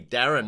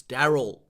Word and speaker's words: Daryl: own name you know a lot of people can't say daryl that's my name daryl they call me darren half the time it's daryl daryl daryl i'm watching